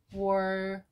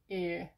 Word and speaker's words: 월요일: the final consonant, and we will try to move final consonant to silent sound. So, for pronunciation, that would be 我 월요일, 월요일, 월요일.